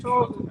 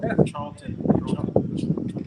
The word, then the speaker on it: Charlton: Charles Heston. Charlton.